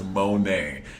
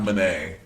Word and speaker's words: Monét: My name is Monét. Monét, not Monét. Monét, I have an accent, and I'm from the South.